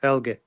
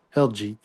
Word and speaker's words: Helga: Oh, she connects on Facebook, and her name is pronounced Helga. Helga. Thank you. Helga or Helgi. Helga, but not Helgi.